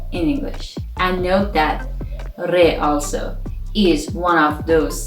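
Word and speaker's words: ر: twelfth letter is re re sounds like a radio in english but our pronunciation of the letter re is similar to the pronunciation of the spanish speakers not like english speakers which we say radio in persian it has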